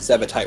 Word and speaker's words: Zebetite: Yeah, that's how you pronounce it. Zebetite wires.